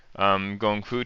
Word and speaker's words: gongfu: It's just my preference for doing gongfu cha. Gongfu and Kung Fu are the same Chinese characters. For tea, it's often just it's pronounced, most folks pronounce it Gong Fu, so Gong Fu Cha.